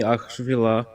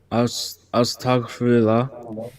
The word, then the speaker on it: Astaghfirullah: What do you So I was like, so forgive me, akhfirullah. How do you say it again? Astaghfirullah. Okay. My bad if I butch the pronunciation.